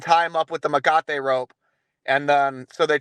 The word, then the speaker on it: Mecate: And as you mentioned before, it is Mecate, right? That is the correct pronunciation. Mecate.